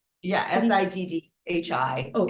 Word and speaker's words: Siddhi: And so the next step in that sequence is called the Siddhi, and it's spelled Sidhi. Is that correct? Yeah, Siddhi.